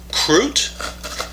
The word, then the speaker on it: Krut: better known as the Krut. And I think the Swedish pronunciation on that is Krut, like that, but we won't say it that way.